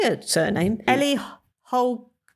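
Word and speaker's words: Holcomb: It's by Ellie I don't know how you say her surname Ellie Holm. H O L C O M B C isn't silent B again.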